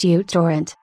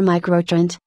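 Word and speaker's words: µTorrent: torrent also utorrent and micro torrent pronounced utorrent mute torrent me torrent or micro-trend BitTorrent client for Windows Mako's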